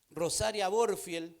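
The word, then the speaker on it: Rosaria Butterfield: Ella es Rosaria Borfield, así se pronuncia su nombre, y esta es su historia, se la voy a leer.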